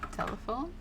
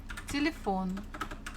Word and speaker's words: телефон: The stress falls on or the last syllable, phone, телефон, телефон. So if it was falling on the first one, it would have sounded as telephone, telephone. But we pronounce this телефон, телефон. So it should be on the O.